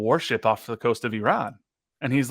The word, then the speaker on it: Iran: goes, first of all, you're pronouncing our country wrong. It's pronounced Iran, not Iran.